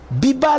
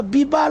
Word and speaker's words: Viva: l'air et il criait Biba la musica Biba la musica c'est pas vive la musica plutôt en fait le le le V en espagnol ça se prononce B donc voilà mais bon